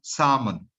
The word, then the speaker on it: salmon: So do not pronounce the L. The L is completely deleted. So salmon.